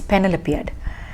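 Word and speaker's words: Penelopiad: she has written a very small book called panel appeared panel appeared p e n e l o p e is the spelling of penelope p e n e l o p i a d is panel appeared and there it's very entertaining book you would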